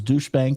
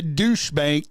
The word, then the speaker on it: Deutsche Bank: the one that uh I kind of sometimes mispronounce as douche Bank yeah douche bank it's